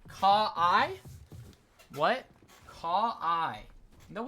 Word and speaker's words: Kawhi: It's Kawhi.